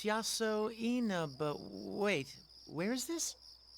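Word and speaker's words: Yasoinaba: Oh, it's written out beneath the kanji. Oh, it's Yaso Ena.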